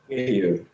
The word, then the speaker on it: Kihiu: Wait, how do I pronounce that? Is it Kihiu? Kihiu.